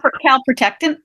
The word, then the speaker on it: calprotectin: Her test came back great on her calprotectin. Am I pronouncing? Calprotectin.